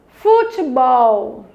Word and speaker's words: futebol: Próxima, futebol. Futebol. Qual é a sílaba tônica? Bol. Se essa é a sílaba tônica, ela é uma palavra oxítona.